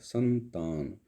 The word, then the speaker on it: संतान: अब सा और आधा ना का जोर जो है वो सा के ऊपर जाता है, संतान, संतान।